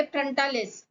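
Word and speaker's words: frontalis: ये फ्रंटालिस, ठीक है, फ्रंटालिस होती है। इसको देखो मैंने उच्चारण के लिए फ्रंटालिस।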